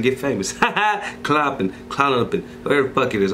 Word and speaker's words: Klonopin: I've been trying to pronounce this shit before I hop on this shit. Klonopin. Klonopin is how you say it.